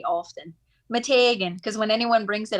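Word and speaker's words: Meteghan: that i say often matagan because when anyone brings it up i say it like that mitiga because that's how i've heard it pronounced okay we're talking about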